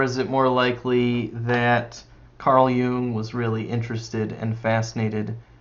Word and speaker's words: Jung: Carl Jung. Carl Jung.